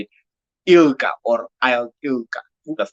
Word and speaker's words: ILGA: Melusi, let's talk about now the I don't know how to say it, ILGA or ILGA.